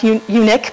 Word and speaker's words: Unic: It's spelled UNIC, and I'm assuming it's pronounced Yannick because they said that they were trying to build a car that was, or excuse me, unique, because they